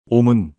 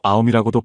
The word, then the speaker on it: 옴: 옴은 산스크리트어로 아움이라고도 발음하는데 우주의 근본 소리입니다.